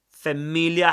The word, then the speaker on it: familiar: In that case, in standard southern British English, you do pronounce the sound R or the letter R because familiar uh, let me write it down for you. Familiar. familiar. Okay. Right after it comes a vowel sound which is the only case